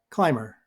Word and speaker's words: climber: Now, the B also disappears in other forms of this word, like climber, climber, climbed, climbed, climbing, climbing.